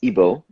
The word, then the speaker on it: Igbo: like uh is like igbo and and when we feed those 50 million are people that are connected to some jewish roots is that correct so the g is silent it's igbo and so there are